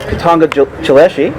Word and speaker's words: Katongo Chileshe: we're working on a project together along with katanga chileshi did i pronounce that properly yes you did okay i'm